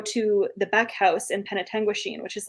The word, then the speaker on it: Penetanguishene: I kept calling it Penguin Shine. Yeah. Penetanguishene.